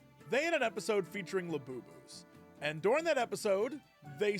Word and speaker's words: Labubu: had an episode featuring labus. And during that episode, they said that laboo were demonic. They had a whole pazuzu thing, and labu rhymes with pizuzu.